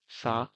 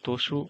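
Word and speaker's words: つ: সা, শি, সু, সে, শো। তা, চি। এটা অনেকে বলে তসু অথবা সু। সো দুইটা উচ্চারণে করতে পারেন, আবার স্থান ভেদে তাদের উচ্চারণ ভিন্ন হয়ে থাকে।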